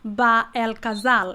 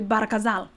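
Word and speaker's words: Bahr el Ghazal: coming through brother so the proper way of pronouncing it is not ba El Casal it's actually barakazal is that correct yeah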